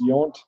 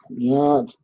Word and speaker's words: Yount: I got yelled at once for not how to pronounce that guy's name, but I think it's Yount. Yount.